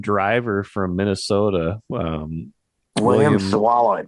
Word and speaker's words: Sawalich: This young driver from Minnesota, William William Sawalich. Swallich, that's how you pronounce it.